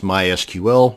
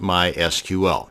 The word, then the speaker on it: MySQL: to create a mysql database and yes it's pronounced mysql not mysql so the next time you had